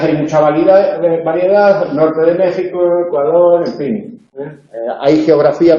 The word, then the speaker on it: México: Por eso México se escribe con X, pero se pronuncia con J.